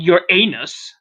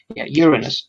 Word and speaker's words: Uranus: reverse urine Uranus Uranus okay not your anus okay you're in this not you're not your bunghole no I know you reverse your kness okay Uranus that that's the actual we're pronouncing here it